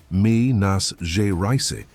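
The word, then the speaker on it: Minas Gerais: He found that Maro had traveled from Mina, pronounced mi nas ja rice, to Rio around the time Eliza disappeared.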